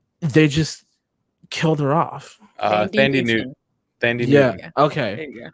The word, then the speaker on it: Thandie Newton: Thandie Newton. Yeah. Okay. There you go. That's how you pronounce it.